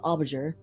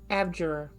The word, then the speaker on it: abjurer: It's the card of the Aubajur. Aubajur? How do you say that? Abjurer.